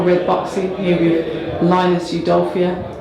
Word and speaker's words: Udofia: Is that the correct way to pronounce your name? It is. Because I bet you a few people pronounce it wrong. Linus Udofia. Always a bit of that. But no, you done it.